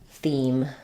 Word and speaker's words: theme: We have the E. So I would rewrite that like theme.